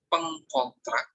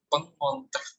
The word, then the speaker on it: pengontrak: Nah, itu jadinya membacanya bukan pengkontrak ya, tetapi menurut aturan, ejaan, dan tata bahasa baku saat ada imbuhan peng dilekatkan dengan konsonan K, maka dia melesapkannya. Konsonannya menjadi pengontrak.